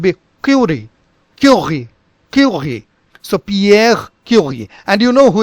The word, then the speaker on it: Pierre: So in general, if you talk of Pierre, in French, it is spoken as Pierre, Pierre. So here it is Pierre, Pierre. Only the guttural sound is something disturbing. So this is how it is. Pierre is pronounced with this guttural end.